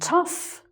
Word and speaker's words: tough: And "tough", that's someone who's very strong and tough, resilient. Tough person. Okay. "Enough", "rough", "tough", "uff".